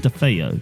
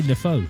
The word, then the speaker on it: DeFeo: it's Ronald the city where it's pronounced DeFeo. DeFeo. Why did you say Defoe?